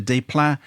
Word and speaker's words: Desplat: The visuals, sets, use of colour and light, and the desplat.